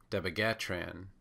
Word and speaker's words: dabigatran: an alternate pronunciation is deag gatron which is Du from dozen just the B from Big the G from gab and then the Tran from translate to make dabigatran dabigatran